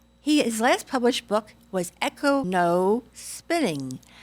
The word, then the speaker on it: EcoSpinning: was a mistake because it's easy to stumble on that N-O. Best pronounced as EcoSpinning, and not so sort of trippingly on the tongue, but I guess it's difficult to master.